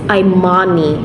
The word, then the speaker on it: Imani: switch this off first okay so the Imani I'm Mommy so that's how you pronounce it it's Imani okay I'm money I